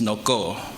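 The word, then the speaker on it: នគរ: In Khmer, a language of Cambodia, we pronounce Noko, which would become Angkor.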